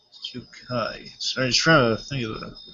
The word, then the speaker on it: Yokai: off this uh uh a it's hard to pronounce his name well Japanese I believe it's Yokai yeah it's yukai trying to think of name is here oh